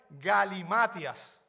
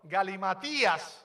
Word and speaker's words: galimatías: cuando hablaba en Éxtasis eran galimatias Perdón está mal pronunciado galimatías porque tiene un acento en la Ah al final bien Qué es eso